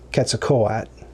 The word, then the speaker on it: Quetzalcoatl: So I'm like, I want to pronounce that correctly, and I believe it's pronounced Quetzalcoatl.